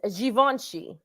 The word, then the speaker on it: Givenchy: That's like That's like when they say Givenchy when it's Givenchy.